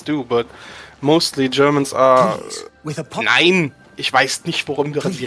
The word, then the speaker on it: nein: I just hate the overpronunciation by everyone who is not German. They always think we say nein.